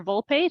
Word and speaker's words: Volpe: here so I'd like to introduce Captain Heather Volpe thank you for did I get your name pronunciation right there excellent Captain Heather Volpe thank